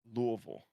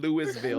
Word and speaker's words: Louisville: I'll let you get away with Louisville, but not Louisville. That's just a crime. There's a straight up S in that. It's not pronounced.